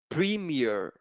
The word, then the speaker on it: premiere: uh really correct right this will be pronounced Premiere right it's really not like error it's like premiere okay Premiere Premiere right